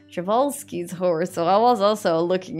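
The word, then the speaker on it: Przewalski: actually just recently made a barn for the przelski's chevalski's horse keep saying it wrong javalsky's so i was also looking into a lot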